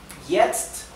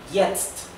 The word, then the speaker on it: jetzt: Recuerden que la J en alemán se pronuncia igual que la I nuestra del español. Jetzt.